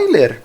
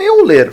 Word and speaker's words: Euler: A pronúncia é Euler, não Euler, falando para dentro, como se tivesse asma. Euler, um dos maiores matemáticos da história.